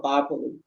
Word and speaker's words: Bopolu: Today, this place is spelled Totokole, and it is in Bopolu, or Bopolu, as we say, okay?